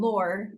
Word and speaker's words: Lohr: recently got married and my new last name, Lohr, is pronounced like Lore, even though it's not spelled that way.